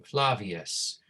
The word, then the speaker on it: Flavius: the father right i'm flavius right remember it's the w sound right the v in latin is not va it is what right they said what right so just to